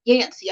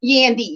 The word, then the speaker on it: Yandy: Mendici and Yancy, I believe is the way you pronounce her name. Yandy, yes, thank you.